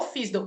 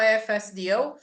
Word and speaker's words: FSDO: fisd tá Gente o que que é o fisd a pronúncia fisd tá gente no vídeo antigo eu até falava fsdl mas depois eu eu aprendi né que a